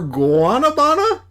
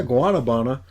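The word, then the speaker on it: guanábana: Swollen, rising like dough through kneading touch or guabana. Yeah, guanabana. Ripened heavy on the tree. Can you spell that?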